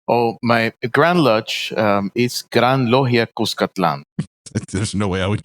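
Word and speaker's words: Gran Logia Cuscatlán: Oh, my Grand Lodge is Gran Logia Cuscatlan.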